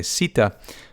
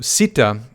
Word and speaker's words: Sita: the father does anyway sita is the wife of ram and by the way usually you don't pronounce the a on the end of some of these names i have a habit